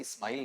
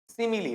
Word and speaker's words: simile: लेकिन ये जो ऊपर वाला है इसे आप गौर करें तो इसका जो उच्चारण है वो स्माइल नहीं होता है। इसका उच्चारण वहां पर क्या रहेगा आपका? सिमिलली रहेगा।